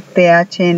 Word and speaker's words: the: En ese, hagan de cuenta que la E no está ahí, que es la pura Z como la pronuncian los españoles.